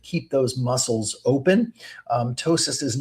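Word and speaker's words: ptosis: We call it tois. And you spell that, it starts with a P, the P is silent. P T O S I S. Tossis.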